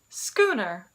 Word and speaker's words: schooner: And I have one last word for you that starts with a ska sound, and it actually comes from Dutch. Schooner, schooner.